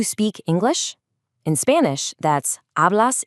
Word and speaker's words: hablas: In Spanish, that's hablas inglés. Remember the silent H at the start of hablas, and notice the accent on the E in inglés.